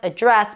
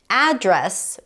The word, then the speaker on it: address: However, one little caveat is that in the US, the noun address can also be pronounced as address.